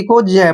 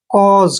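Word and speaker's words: cause: औ करेंगे ऐसे और एस ई को ज पढ़ते हैं जब भी एस से पहले यू आता है और एस के बाद आता है तो एस का उच्चारण ज करते हैं कॉज कॉज मींस क्या होता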